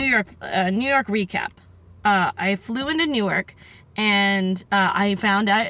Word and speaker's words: Newark: something on my glasses, it's pronounced Newark, not Newark, and I was like, oh, okay.